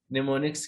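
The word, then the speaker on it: mnemonics: निमोनिक्स की मदद से करेंगे। ये निमोनिक्स आपने याद रखने हैं, आपको कोई मुश्किल नहीं होगी। निमोनिक्स में एम साइलेंट है, इसमें एहतियात करें।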